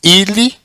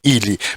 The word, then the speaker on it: ili: Então o acento, no caso de ilia, ele vem para a segunda sílaba do ilia, que é o li. Então muda o local do acento.